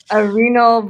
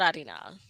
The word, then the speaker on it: Arenal: look like volcanoes um Arenal Volcano no it's no is that a type volcano how do you spell it arena with an L at the end Arena adinal arinal it is not arinal um let me see